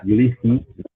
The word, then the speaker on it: Ulysse: I pronounce it Ulysses. I say my name is Ulysses, but Ulysses. but other people in my family they'll say Ulysse or Ulysse. So there's multiple ways Uh-huh. to pronounce it.